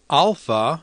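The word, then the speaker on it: α: right so let's begin alpha sounds like the a and father beta sounds like the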